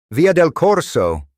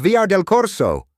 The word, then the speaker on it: via del Corso: The automated voice was pronouncing the Italian street names with a perfect Italian accent, like via del Corso. He kept shouting at his phone. "No, it's VR del Corso.